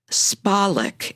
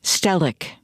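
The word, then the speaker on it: Spahlek: His name is spelled Spalik, S P A H L E K, not Stellic.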